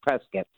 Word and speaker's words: Prescott: Depending on where you're from. I guess if it's California, it's Prescott. If you're from Arizona, it's Prescott. Yes, Prescott. It's like biscuit, but you don't, because